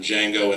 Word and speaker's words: Django: was caught up in Django and then his his yeah exactly nice the D is silent and then Sally miy